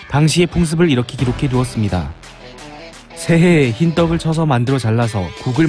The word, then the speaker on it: 歲: 이 글자의 발음은 새, 뜻은 해, 세월, 나이, 부수는 그칠 지, 총 13획입니다.